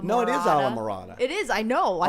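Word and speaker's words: Islamorada: At first I was saying Isla Morada. No, it is Isla Morada.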